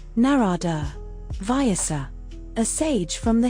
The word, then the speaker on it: Narada: Pronounced narada via a sage from the Hindu tradition.